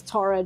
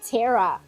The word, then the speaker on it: Tara: It's like how the Americans pronounced Tara. The way that the Americans pronounce Tara drives me insane. I'm like, where are you getting the E from? Why are you saying it Tara? There's not a single E in there.